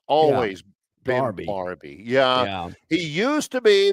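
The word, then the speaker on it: Barbee: How do you pronounce his name? It's always been Barbie.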